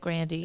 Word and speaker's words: Grande: actually and ariana grande grande is definitely correct but she pronounces it grandy and people always say